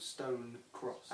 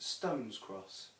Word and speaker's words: Stone Cross: far from here called stone cross and i'm not joking everyone in eastbourne calls it stone's cross there is no s in it it doesn't exist there